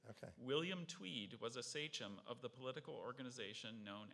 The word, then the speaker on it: sachem: Sachem. Sorry? Sachem. It's the leader of a political party. Sachem. Not my party. What's the origin? The sentence actually might help you here. Okay. William Tweed was a sachem of the political organization known as Tammany Hall.